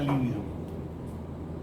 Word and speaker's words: lívido: es el apetito sexual no confundir la palabra líbido líbido se escribe con ve corta y tiene es una palabra es drua líbido que quiere decir blanco atado un cadáver está lívido está pálido y empieza